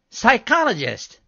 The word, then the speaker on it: psychologist: I was giving examples of words that begin with silent P, like pseudo and ptomaine. And psychologist. Right. That's a silent P word, too.